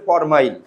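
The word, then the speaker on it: formyl: ওই যৌগটার নামের শেষে যা যুক্ত হবে ওয়িক অ্যাসিড, আর শুরুতে যদি এটাও থাকে তাহলে উচ্চারণ হবে ফরমাইল। বুঝছেন?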